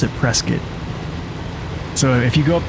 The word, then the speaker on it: Prescott: out-of-towner if you say Prescott. Like everybody calls it Prescott. Almost like biscuit, but with a P.